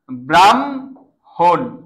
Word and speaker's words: ব্রাহ্মণ: অপ অপ রা অপরাণ হ অপরাণ ক্লিয়ার যদি বলি ব্রাহ্মণ ব্রাহ্মণ লক্ষ কর এটার ভিতরে হ আছে ম আছে পরে তাহলে কি হবে? ব্রা ব্রাহন ব্রাহন এই টাইপের বুঝাইতে পারছি